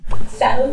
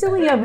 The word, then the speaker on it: psyllium: Salam husk. Oh, psyllium hs psyllium husk. Oh my gosh. All right. Now we all know how to pronounce it.